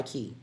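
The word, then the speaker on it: Chi: And the key is spelled C-H-I. It's Touch by Key, C-H-I, not K-E-Y. It's like my name.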